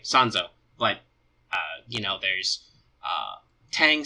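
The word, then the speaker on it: 三蔵: word so we'll say sons oh because that's the Japanese pronunciation of her name and when she had she talks about herself she'll use the name sans oh but you know there's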